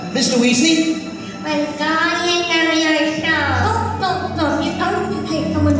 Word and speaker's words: Leviosa: And again, Wingardium Leviosa. Mr. Weasley? Wingardium Leviosa. Stop. You only take someone higher. That's fine. You're saying it wrong. It's Leviosa, not Leviosa.